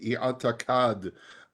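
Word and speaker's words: اعتقد: It's pronounced i'atakad in Arabic, at least my anglicized Arabic.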